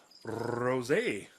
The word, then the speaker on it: rosé: well, today we have a little something called rosé. I know, you gotta say it like that. You gotta say it fancy like that.